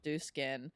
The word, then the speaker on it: Dieux: And they're like, because we pronounce it the American or the English way because we're an English company or American company.